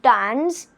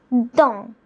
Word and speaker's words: dans: It's not dance, it's don. Okay, the S remains silent here, while the N has